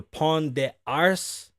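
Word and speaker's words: Pont des Arts: bridge in paris the pawn de arse you don't pronounce the t's hold up don't move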